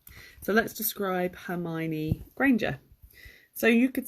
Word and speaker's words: Hermione: But her name is Hermione. So let's describe Hermione Granger.